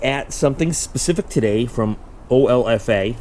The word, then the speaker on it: OLFA: So, we're going to be looking at something specific today from OFFA. I guess you can pronounce it Ula.